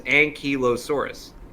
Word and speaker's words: ankylosaurus: Mason I'm look at merriam-webster and it says ankylosaurus yeah and you mean Inc high-lows well the